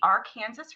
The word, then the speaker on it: Arkansas: So, it's kind of a joke, but you know, Arkansas is Arkansas. Ours is the R Kansas River, but it's spelled the same exact way.